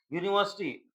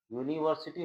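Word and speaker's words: university: यूनिवर्सिटी होता है ना। इसका उच्चारण यू से शुरू हो रहा है।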